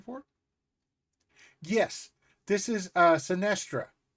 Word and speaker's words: Synastria: Yes, this is uh Sinestra. Sinestra. Wow. Um it's spelled just like it is in my thing.